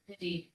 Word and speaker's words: Hadid: And it's It's pronounced Hadid? Hadid.